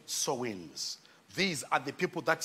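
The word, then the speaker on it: Samhain: were called the Sam it is spelled Sam H which is s a m h a i n but it's called sewings these are the people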